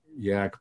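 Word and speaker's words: Jaak: Well, there was a great, great scientist called Jack Panksepp.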